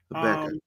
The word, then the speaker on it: Habakkuk: Habakkuk. Well, how do you pronounce it?